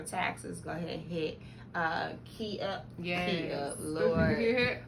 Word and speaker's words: QUI: I know it, but every time I think of the QUI, I'm gonna say Key. So it is Key.